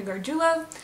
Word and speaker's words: Gargoula: name is um gargoula that's how you pronounce my last name if you were curious